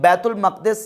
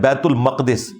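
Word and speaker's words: बैतुल मुक़द्दस: यह भी कहा कि यह मकद लफ है मुकद्दस नहीं है यह लज है बैतुल मकद बैतुल मुकद्दस लज नहीं बैतुल मकद इसकी ट्रू प्रोनंसिएशन है सवाल यह पैदा होता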